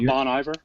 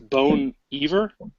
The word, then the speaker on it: Bon Iver: It's not Bon Iver. It's Bone Iver.